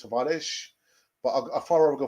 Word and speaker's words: Tavares: not seen the news nuno tavares or the portuguese pronunciation i think it's tavarish but a pharah will